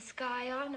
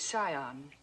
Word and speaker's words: scion: Yale, a yacht, and the skyon of a prominent family. The word is scion. The sea is silent.